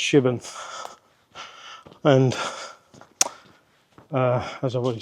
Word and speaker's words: Shipbourne: app and it's spelled ship born but it's pronounced shibon and uh as I've already said it's an